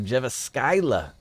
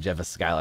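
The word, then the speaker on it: Jyväskylä: you enjoyed that when they're coming out of jeva skyla finland i hope i said that right if not it should be pronounced jeff scala because that sounds bad um nemechek uh guys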